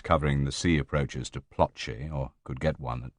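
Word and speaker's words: Ploče: "Ploce, spelt Ploce, pronounced Ploce.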